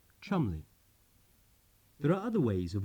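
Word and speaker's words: Cholmondeley: How many non-Englishmen would know that what looks like Belvoir Castle is pronounced Beaver Castle, Kais College, Keys College, Cholandley, Chumley.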